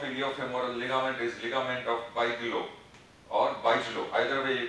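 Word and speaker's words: Bigelow: ligament is ligament of Bijlo or Bijlo, either way you can pronounce. So it is ligament of Bijlo, B-I-G-E-L-O-W, Bijlo.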